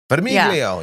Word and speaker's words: Vermiglio: Vermiglio, you got to say it like that.